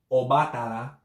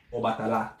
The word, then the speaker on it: Obatala: The emphasis being on the second, on the third A, excuse me. So it's not Obatala, it's not Obatala, it's Obatala. The emphasis is on the last A.